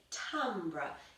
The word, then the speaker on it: timbre: So this week our subject of learning is going to be timbre. It's spelt T-I-M-B-R-E.